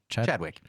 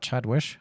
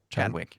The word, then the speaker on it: Chadwick: pronounce that chat wick chadwick not chat wish like sandwich but nope chadwick chad wish no chadwick